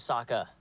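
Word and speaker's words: Sokka: My name's Saka. rhymes with aa and waka waka.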